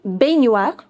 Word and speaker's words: baignoire: Bathtub in French is known as une baignoire. Baignoire. See, whenever you have GN together, you pronounce it as near.